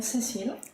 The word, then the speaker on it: Cécile: Because rather than me trying to pronounce French names. Okay, so I'm Cécile.